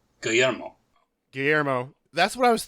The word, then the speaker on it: Guillermo: I'm going to spell it out for you and ask you to try and do your best. It's Guillermo.